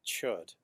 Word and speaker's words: Chöd: And this is actually the root of a fairly well-known Tibetan Buddhist practice called Chöd, which is spelled C-H-O-D, but the O has an accent above it. Chöd is feeding the demon, and it's an actual